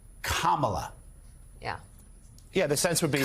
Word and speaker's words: Kamala: They all deliberately mispronounce her name, Kamala. Yeah. Repeatedly, all the hosts, Kamala.